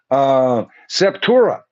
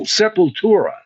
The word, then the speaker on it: Sepultura: Septura. Okay. Oh, Sepultura does a great cover of Orgasmatron.